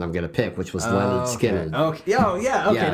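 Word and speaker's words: Lynyrd Skynyrd: But it was pronounced Leonard Skinner, which is basically telling you how to pronounce their name.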